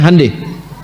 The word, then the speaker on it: Hyundai: Hyundai itu dibacanya hande.